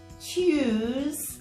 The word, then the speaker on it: Tuesday: So the T sounds a bit like a ch at the beginning of the word. Tuesday.